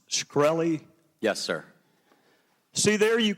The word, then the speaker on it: Shkreli: South Carolina thank you Mr chairman is it pronounced shkreli yes sir see there you can answer some